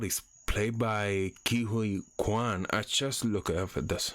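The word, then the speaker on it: Ke Huy Quan: and Obie a or B is played by KIU Kuan I just look that's how you pronounce the name and and that's how he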